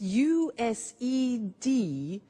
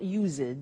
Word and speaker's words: used: spelling s it's it's us ed and then tio but the pronunciation is not using it's used unusual used ok so